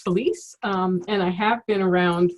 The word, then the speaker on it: Phylise: thanks Clark so yes my name is pronounced Felice and I have been